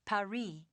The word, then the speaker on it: Paris: Yeah, well, the locals pronounce it Paris.